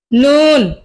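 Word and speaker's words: نون: নুন, জিহ্বার আগা, নুন নুন। আর বলি কফ, আমার সাথে বলুন কাফ। লাম, মিম, নুন। আবার কফ, কাফ, লাম, মিম, নুন।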